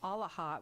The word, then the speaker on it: AALHA: So you can check them out on their website, which is AALHA, which I'm going to spell it out for everybody because it sounds like sort of holla with an all in front.